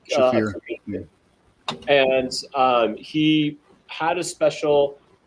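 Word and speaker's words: Shaffir: Ari Shafar, I think is how you say his last name. He's Shafir.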